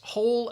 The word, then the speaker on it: whole: Again, homonyms, same pronunciation. Whole, W-H-O-L-E, and whole, H-O-L-E, whole. I ate the whole pie. All right, you ate all of it. Or I need to dig a hole. Pronunciation is the same.